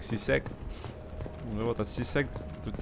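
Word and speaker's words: C-Sec: Они произносят как сисек.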